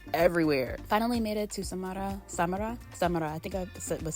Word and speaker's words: Samara: Finally made it to Samara. I think I was saying it wrong. Samara.